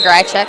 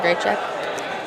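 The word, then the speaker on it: Grajczyk: what number six grass check grass check that's pretty close people some people say gr check some people say gray check I have to tell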